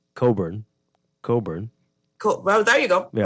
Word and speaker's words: Cockburn: It's Cockburn in San Salvador. They don't pronounce it like that. It's Coburn. Well, there you go. Yeah. Coburn.